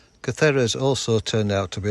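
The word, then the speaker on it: Cáceres: and upwards today and off we go to kakerez voiceover required at this point it's pronounced catheres catharas also turned out to be a lovely surprise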